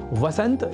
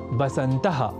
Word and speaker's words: वसंत: ऐसे ही वसंत या वसंतः और वसंतर्तुः जैसे शब्दों को बसंतः और बसंतर्तुः लिखना और बोलना भी गलत है।